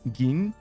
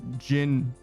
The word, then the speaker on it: Gin: Pronounce the G different. Gin. Gin. Gin. Like, so not Jin. What did I say originally? There's a lot of ways that you could read a G, apparently. I think I said Jin originally, and you want it to be Gin, like the G.